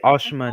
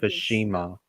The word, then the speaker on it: Ashima: ashima's name differently like they say ashma instead of Ashima but you know how the CGI one at least at least they said her name correctly well reality Ashima is how you pronounce it correctly but I prefer saying